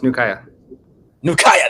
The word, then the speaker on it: Nukuya: bro I'm saying it right right yeah close Nua Naya there we go this has been Naya's